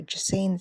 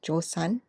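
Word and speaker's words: Joseon: The Ming envoy though give the Joan side or I should pronounce it the right way. Now, I did um see that it's pronounced Josan.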